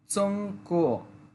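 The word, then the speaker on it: 中国: চুংক কুচংক মানে এটা কু কিন্তু দ্রুত বললে তখন ক এর মত শোনা যায় ক কিন্তু একচুয়ালি উচ্চারণ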